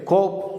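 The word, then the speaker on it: קוף: இந்த எழுத்தை கோப் என்று உச்சரிக்கிறோம்.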